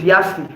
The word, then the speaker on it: Yace: me I was saying it's not yes, it's Yasi.